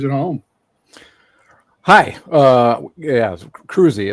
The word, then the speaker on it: Kroese: Crows, introduce himself to our listeners of viewers at home. Hi. Uh, yes, Cruzy is actually how I pronounce my last name.